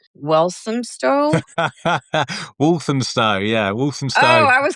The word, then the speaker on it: Walthamstow: with locations in Eastbourne, Poole, and I cannot pronounce this. It's like Walthamstow. Walthamstow, yeah, Walthamstow.